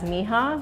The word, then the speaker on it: Mija: So there's actually two pronunciations for our bookstore. One, Spanish speakers will see it as mija, which is the colloquial word for my daughter in Spanish. It has a much deeper meaning for us because it's actually the first two initials of our daughter's first and middle name, Mireya Jamila. So another pronunciation is Mija.